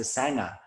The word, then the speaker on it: sangha: bread a sandwich in australia is called a sanga like a vegemite sanga it's a vegemite sandwich and so many aussies i've realized since coming here so many aussies refer to the practice community as a sangha while the sangha is nourishing um it's not a sangha it's not a sandwich um it might be